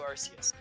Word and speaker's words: Arceus: And in Pokemon Battle Revolution, which is where I get my pronunciations from, it's Rayquaza and it's also Arceus.